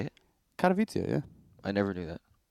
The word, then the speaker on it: Katowice: Katowice, yeah.